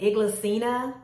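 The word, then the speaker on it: Inglesina: items in my family I think they pronounce it iglesina fast table chair I'll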